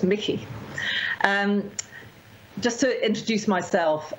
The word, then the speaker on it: Michie: professor uh susan uh michy and i hope i'm pronouncing your um thanks it's actually a scottish name originally so it's mickey um just to introduce